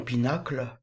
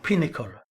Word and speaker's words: Pinnacle: Quand vous entrez dans Pinacle, je le prononce à la française, on devrait dire Pinnacle.